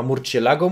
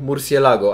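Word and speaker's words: Murciélago: Marcialiago było bardzo podobne. W zależności chyba, kto to wymawia. Włosi chyba Murcielago mówią, ale ja se tak wymawiam, bo jestem Polakiem. Po angielsku Murcielago, ale to raczej bez znaczenia.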